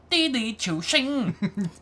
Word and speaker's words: Didi Chuxing: But it's all been turned upside down now because there's this company called Didi Chuxing, which is not how you pronounce it at all. It's Didi Chuxing.